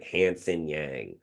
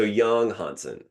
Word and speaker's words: Yang Hansen: Hansen Yang. I knew that that American twang was likely not the right way to pronounce his name. So, Yang Hansen, I spoke about him with Keandre and again with Powers.